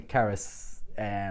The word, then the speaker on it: Charis: in the same story so the Charis has a hard C sound to it whereas charlie obviously has that CH sound to it so it's unlikely that